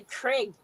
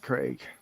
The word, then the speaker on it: Craig: and thank you Raquel Americans can't say the name Craig either you guys say Craig no it's Craig Ferguson Craig no it's Craig they can't say they can't say crack they say Craig okay it's Craig there's three people on